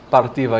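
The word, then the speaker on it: Parthiva: You just say it. Partivha Partiva, Yoga. solamente decir partiva. I say it in Sanskrit, it's not even a Y or a I, it's E.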